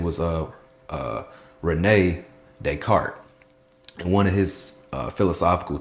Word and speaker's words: Descartes: It was called oh Descartes. No, not you don't pronounce the S because that's not how you pronounce it. Descartes error.